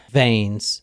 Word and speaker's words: Vains: February 23rd 2011 David vains is driving with his relatively new girlfriend Kathy Galvin just think of vains like his name is spelled like veins just the eyes backwards when I think of